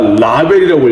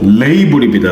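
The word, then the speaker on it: label: 레이블이 아니고 아니 이거 다 라벨이라고 읽어요. 라벨이 아니고 레이블입니다.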